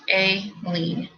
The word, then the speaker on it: Aileen: timmy timmy ray it's real her name is pronounced a lean thank you my brain just keeps wanting to